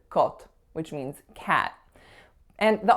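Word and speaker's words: kot: letters K o T the letter K is gonna make the sound the letter O is gonna make the sound o and the letter T is gonna make the sound so when you put those together you get the word cult which means cat and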